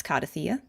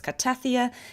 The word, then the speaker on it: Cartethyia: Honestly, I think it's just because people found it a little tricky to pronounce kardthea. I think people weren't sure about whether it was kaththeia, karta, something else.